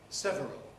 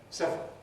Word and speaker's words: several: dictionaries uh so the word that is normally several i gave read normally two syllables nevertheless some dictionaries do give you the form several and it's not entirely impossible it's not entirely obsolete but general purposes general general general purposes i would recommend several as the normal pronunciation these are very common